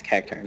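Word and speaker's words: Cacturne: God, how the freak do you pronounce it now? Yeah, it's Cacturn.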